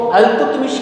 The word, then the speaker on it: इल्तुतमिश: अच्छा, इल्तुतमिश को अल्तुतमिश के नाम से भी जान सकते हैं, कुछ बुक्स में उनको प्रोनाउंसिएशन का अंतर है, अल्तुतमिश भी बोल सकते हैं, इल्तुतमिश।